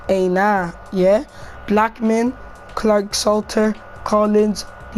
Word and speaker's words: Aina: Mikel, Traore, Amelia, Kennedy, Palmer, Abraham, Masonda, Aina, how you pronounce his name, not Anis, Aina, yeah.